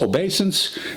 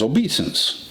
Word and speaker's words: obeisance: reverence by the way although I read this word as obeisance it may also be correctly pronounced as obeses in the next line